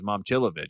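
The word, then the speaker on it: Momčilović: Last year was Momcilovic. And we've now come to figure out that it's Momcilovic.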